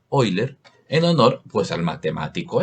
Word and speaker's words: Euler: número valga aclarar que la e es de euler o con una pronunciación menos golpeada oyler en honor pues al